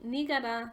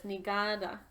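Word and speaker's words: ᏂᎦᏓ: saying that word wrong i was saying nigara but it's actually the stress is on the second a or the second syllable so it's nigada um and uh today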